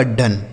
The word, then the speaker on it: done: DONE डी से हो गया दोस्तों ड, इस ओ का उच्चारण अ हो गया। NE से न, यह लिखा आपका डन, ठीक है, इसे पढ़ेंगे दोस्तों डन।